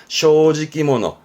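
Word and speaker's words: 正直者: 정직자가 아니라 정직한 사람이니까 쇼지키모노. 즉 세 글자 단어임에도 발음이 모노되는 케이스가 또 시험에 보일 수가 있습니다.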